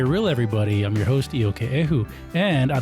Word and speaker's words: Iokepa: Did I say it right? You got it perfect. I got it perfect. Perfect. It's not perfect. It's close. It's close. But I got the first name right. Iokepa.